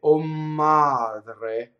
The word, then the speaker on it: madre: So I would not say O madre, I would say O madre. You see? Double M. O madre. We already know how to do double M. We hold it in phonation.